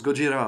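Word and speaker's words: ゴジラ: Oui, parce que Godzilla, ça se prononce Gojira en japonais, d'où le nom du groupe de métal français d'ailleurs, Gojira, en hommage.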